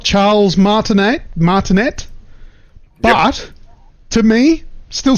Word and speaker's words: Martinet: So, as we all know, Charles Martinet, I always thought it was Martinet, but I'm pretty sure he pronounces the T.